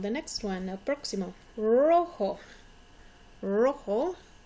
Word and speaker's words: rojo: Rojo. Rojo. Again, you notice the J makes an H sound. O sounds like a long O sound.